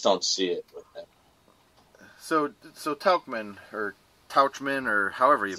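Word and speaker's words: Tauchman: gonna be geo Rochelle ax and then Mike Tuchman that's how you pronounce his name yeah that's the guy I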